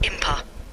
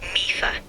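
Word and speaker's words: Mipha: That's pronounced Impa. So you're playing Zelda, huh? Impa? Which game in the series are you... Just to clarify, Mifa is pronounced Mifa.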